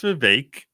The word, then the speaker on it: Vivek: It's pronounced Vivek.